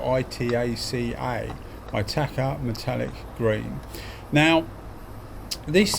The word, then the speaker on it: Itaca: That's spelled I-T-A-C-A.